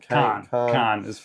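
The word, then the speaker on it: Caen: Kane, uh, like the pepper, cuz that's how Australians say it. Um, Kane, uh, no, it's Khan. But that's a very British pronunciation. I don't think the French call it that.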